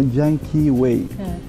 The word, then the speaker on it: Yan Kee Way: Es en base a cómo el ciudadano norteamericano pronuncia el nombre del lago Yankee Way. Ya me pareció. Entonces él lo pronuncia como Yankee Way.